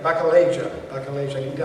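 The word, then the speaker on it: Bacchilega: Bacaleja, I want to get the pronunciation just right.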